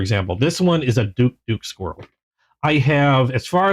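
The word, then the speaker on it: Douk-Douk: This one's a Frenchade traditional style Duke Duke. And I hope I'm pronouncing it right because it's Duk and they they say it twice. Duk duk squirrel.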